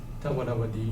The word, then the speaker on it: Dvāravatī: the old kingdom polity known in Sanskrit sources as Dvāravatī, Dvāravatī in Thai pronunciation, and peninsular Thailand also,